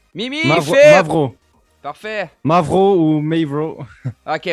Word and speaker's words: Mavraw: C'était Movreur, fucker, pas Movreur, c'est Mavram. Mimi, Phil! Mavro.